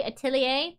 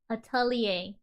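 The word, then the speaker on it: atelier: I I know I'm saying it wrong, you know. I just got this sudden feeling that I'm saying it wrong. Wonder what that base was used for. Flowers, of course. Atalier. It's pawberry atalier.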